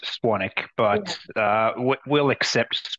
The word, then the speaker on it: Swanwick: I've podcasted with James Swanwick, and we say Swanwick, but it's actually pronounced Swanick, right, Tristan? It is pronounced Swanick, but yeah. We'll accept Swanwick as well.